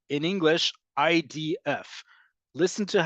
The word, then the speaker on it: IDF: DF Israel Defense Forces in English we often don't pronounce acronyms as independent words great example IDF yes it's an abbreviation for Israel Defense Forces but we don't say idith no one says idth if they did no one would know what they're talking about but in Hebrew we